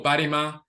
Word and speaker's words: barima: ba or banima obanima that's pronounced at regular conversation speed is obanima or barima so there's really obani